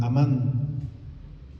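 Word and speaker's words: אמן: Decir respecto de la fe en el Antiguo Testamento, que viene de una palabrita que se pronuncia amán y que significa estar firme o estar seguro.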